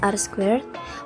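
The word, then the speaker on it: R²: Recall the coefficient of determination denote R2 and pronounced R squared, or the square of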